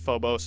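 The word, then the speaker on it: Phobos: it's actually pronounced fobos and damos hello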